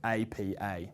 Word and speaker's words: APA: But you can see that we pronounce it APA, letter by letter.